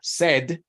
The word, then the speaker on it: said: Pero cuando está en pasado o en tercera persona, suena como con una E. O sea, said, y tercera persona, says.